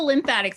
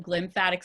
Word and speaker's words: glymphatic: It's not the lymphatic system. I know I didn't misspell it. It's actually called the glymphatic system. It starts with a G.